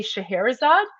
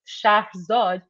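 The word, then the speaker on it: Scheherazade: And in fact, the princess's name, you guys say Shaherzad, um, it's actually pronounced Shah Zod, which is an ancient Persian name from the Persian Empire.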